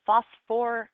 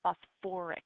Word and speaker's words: phosphoric: acid it's sulfuric acid it's not phosphor it's not phosph acid it's phosphoric acid so you have to add another syllable um tary acids have